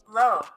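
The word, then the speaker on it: Loewe: All right, the number 4 spot, we got Low. low. It's just spelled a little differently, Low. but it's pronounced the same, right?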